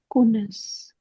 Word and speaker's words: connaissent: वाला किवें प्रोनाउंस करना connaissent कोनेस okay you will not pronounce ENT connaissons connaissez connaissent कोनेस